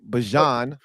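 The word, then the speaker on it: Bijan: Bjan Robinson flexing.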